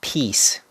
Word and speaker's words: piece: have peace peace and the pronunciation is p very long e and s so it's piece piece we use this for a piece of pie we also use this for a piece of furniture or piece of information or piece of advice and this has a this has the same pronunciation with the word peace same pronunciation and we